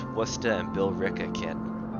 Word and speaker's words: Worcester: like lenio ight that's another way you can pronounce that it's incorrect but it's another way oh yeah when someone gives is a Worchester no that's West it's Worcester and Billerica kit all right so let's